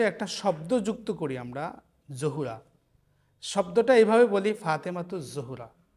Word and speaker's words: যাহরা: শব্দ যুক্ত করি আমরা, জহুরা। শব্দটা এইভাবে বলি, ফাতেমাতু জহুরা। জহুরা শব্দটা আমরা ভুল উচ্চারণ করি, এর সঠিক উচ্চারণ হচ্ছে জাহরা। ফাতেমাতু জাহরা, আমরা বলি জহুরা। জহুরা উচ্চারণটা কিন্তু ভুল।